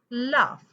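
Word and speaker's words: laugh: ते साऊंडच नाही example L ए य एच लाफ साऊंड आला एल य एच लाफ पण एन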